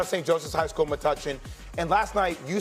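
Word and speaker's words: Metuchen: Joseph's High School, Matuchen, New Jersey, my high school. I'm saying it right. Best player to come out of St. Joseph's High School, Matuchen.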